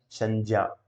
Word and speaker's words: संज्ञा: ज्ञानी, ठीक है, जैसे संज्ञानी, संज्ञा, ये ठीक है, जय और ये से उसको उच्चारण करना, संज्ञा।